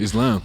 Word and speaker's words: slam: Islan. Só, só, só eu acho que é importante contextualizar. Islã escrito S L A M, que é a mesma pronúncia do, do, do país, né?